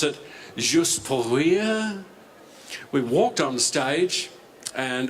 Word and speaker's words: Juste pour rire: They pronounce it Juste pour rire.